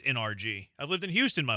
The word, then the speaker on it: NRG: I know it's not energy. I know it's NRG.